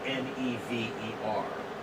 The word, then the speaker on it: never: Where's the stress? On the first or second syllable? First. Right. It's never. Yeah. It's right. not never. It's never. Yeah. Dum-dee. Right? Not dee-dum.